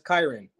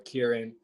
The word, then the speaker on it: Kyron: Well, it's Kyron, but a lot of people get it mispronounced, so it's with a K. It's Kyron. Some people like Tyron or Kieran, but it's Kyron.